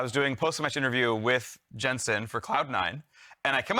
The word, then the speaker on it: Jensen: Jensen, and he's like, no, it's Jensen. I was like, oh, I know, that's your actual last name. But he almost like the first conversation we had was like correcting me like, no, you pronounce my name like an American, right?